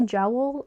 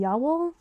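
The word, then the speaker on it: Jawoll: Also, I saw someone I always say jowl, but apparently it's like ya.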